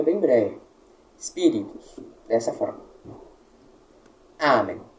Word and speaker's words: amen: Veja bem, amém, nós não temos nenhum acento e é uma palavra que possui duas sílabas. Qual então nós descobrimos que é a tônica? Veja bem, em latim não há oxítonas.